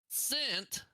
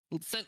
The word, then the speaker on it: scent: Scent, that is silent. Yeah. Scent like a smell, it is silent. Scent like a coin, that is not silent.